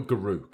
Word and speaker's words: Garruk: Is it Garruk or Garuk? It's Garruk, is how I pronounce it, the Wild Speaker.